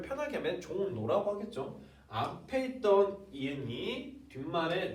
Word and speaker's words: 종로: 근데 발음을 편하게 하면 종로라고 하겠죠.